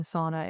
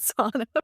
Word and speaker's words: sauna: experiences I had in sauna in Finland and Copenhagen. By the way, it's pronounced sauna, but I'm going to pronounce it sauna because I'm an American.